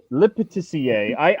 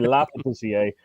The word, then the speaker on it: Le Pâtissier: I call it Le Pâtissier, and then I met a French guy who said actually LE is like in French would be La. So I've been saying it wrong forever. So it's actually La Pâtissier.